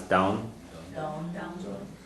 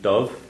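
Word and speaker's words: dubh: Okay, black is a couple of pronunciations you'll hear on this. You'll hear dove or do. Yeah. Do without the verb? Yeah. Yeah, a lot of times you hear that one as do.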